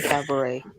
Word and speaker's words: cabaret: why We be did saying nobody tell Jocelyn not to pronounce the T in cabaret?